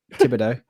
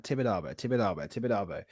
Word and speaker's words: Tibidabo: switched the camera on and I went Thibodeau. Red light syndrome. Oh mate, it's so bad. Like I was listening to pronunciation. I was like, yeah, right, Tibidabo.